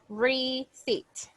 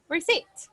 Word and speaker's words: receipt: in the chat but the pronunciation is like this receipt like this receipt repeat with me receipt receipt rece so